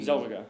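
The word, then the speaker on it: Renée Zellweger: Zellweger. Yeah, Zellweger.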